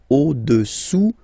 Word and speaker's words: au-dessous: Au-dessous, final S not pronounced, du cylindre.